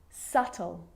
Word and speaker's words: subtle: subtle depth and doubt so seeing all of those examples my lips aren't closing and coming together to form the B sound I'm just pronouncing the T subtle depth and doubt now the letter C